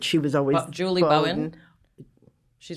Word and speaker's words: Bowen: So it's interesting because I think it was Julie Bowden who said she was always Julie Bowen? She's not She gonna was pronounce she anybody's was name right.